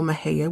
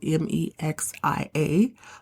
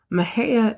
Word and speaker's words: Mexia: out because I know Maha which is spelled me x i a looks like Mexia Maha is hometown of the